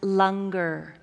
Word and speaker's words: langar: for all of you it's spelled langar but it's pronounced longer so after the service